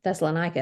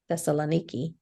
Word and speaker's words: Thessaloniki: went to Thessaloniki Thal thessalonica is how I've always said it Thessaloniki that's how they say it didn't have a whole